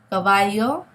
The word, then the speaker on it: caballo: Cabello, caballo, bello, caballa. It's a very soft sound. It's not like the English letter B, as in boy, okay?